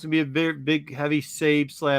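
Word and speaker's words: Sabé: You keep Yeah, saying Sabe. I Sabe. was gonna say it's 2 syllables.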